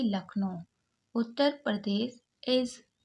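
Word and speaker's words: Lucknow: एल यू लक यहां पर you silent है सी के को का पड़ा और एन ओ ओ डब्लू को ओ पड़े यानी कि लखनऊ उत्तर प्रदेश इज द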